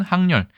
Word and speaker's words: 항렬: 그에 반해서 항을 읽을 때는 항렬, 친족 집단에서 세대 관계를 나타내는 서열, 돌림자 할 때 그 돌림입니다. 그럴 때는 항렬이라고 읽죠.